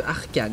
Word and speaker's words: Arcane: Et du coup, comme il s'appelle Artan, et ben j'ai tendance souvent à dire Artan au lieu de Arcane.